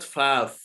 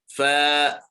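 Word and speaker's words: فاء: Not faf. Faf. No. Fa'un. Fa'un.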